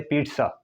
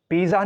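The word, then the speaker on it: pizza: दुनिया में वह है पीटस एक आपने देखले मेरा तलफ सुन ले I have pronounce this word पीट पिज्जा नहीं कह रहा में आई एम सेइंग पीट सा इस पर भी इंशाल्लाह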